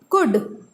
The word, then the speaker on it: could: Here could, L is silent, C-O-U-L-D.